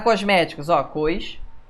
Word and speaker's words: cosmético: a separação silábica separa Cosméticos que que é um cosmético que palavra é essa sílaba tônica é antepenúltima então cosmético é uma proparoxítona você vai ter ilusório